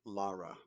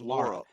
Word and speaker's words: Laura: It's Laura. Laura. There's no other way to pronounce it.